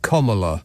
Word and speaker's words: Kamala: president, Kamala, pronounced Kamala Harris, has enjoyed a groundswell